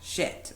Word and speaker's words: Schitt: that we don't like is named Jack Shit, but like SCHITT.